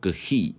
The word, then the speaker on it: gris: Cái thứ ba được gọi là Pinot Gris G-R-I-S R đó là âm của H.